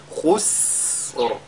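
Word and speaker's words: خسر: Ce qu'il faudra donc qu'on fasse ici, c'est d'allonger la prononciation, n'est-ce pas, de ce signe-là. Donc, khus. Et le Ra suit après. Khusr.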